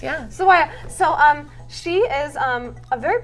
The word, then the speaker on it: Sawaya: Yes. Yes, I said it right. Yeah. Sawaya.